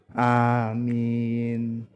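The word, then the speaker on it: آمين: Nah, amin itu boleh hamzanya dibaca panjang, boleh hamzanya dibaca pendek. Boleh amin, boleh juga amin, nggak apa-apa, sama-sama benarnya.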